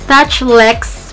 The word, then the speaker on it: Touchelex: review nitong Touch Lex, ito kasi yung nakita kong pronounce dun sa YouTube. So, Touch Lex, pero yung spelling niya kasi is Touch, tapos E-Lex. So, kala ko Touch E-Lex or Touch Lex yung pag-pronounce nila.